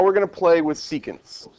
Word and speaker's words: secant: going to play with secants seant yeah no can just um kind of like pronounced like that cant yeah how you would pronounce those two words but put together all right all right before